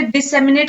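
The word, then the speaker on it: disseminate: तो अब मेरे साथ प्रोनाउंस करें, दिस, सेम, ई, नेट। अब आपकी बारी, इकट्ठे बोले, डिसेमिनेट, ओके।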